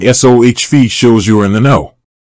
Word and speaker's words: SoFi: say website they explicitly state that the correct pronunciation is s Fe think soft with a long l sound followed